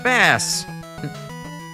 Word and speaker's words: Bass: They pronounce it like the fish. Yeah. Bass.